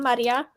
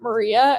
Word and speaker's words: Maria: introduce yourself hi I'm Maria I use sh pronouns Cassie didn't want to say my name I still I still pronounce the r like a French R and it's not a French R and I keep failing